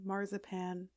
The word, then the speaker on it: marzipan: nuts, chocolate, cookies, marzipan, which is how we pronounce marzipan, and any other little treats that you love, and they don't all have to be edible.